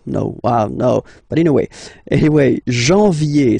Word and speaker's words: janvier: But anyway, janvier, so that's the way to pronounce it. Janvier, A-N, en, okay? And then, ye, janvier.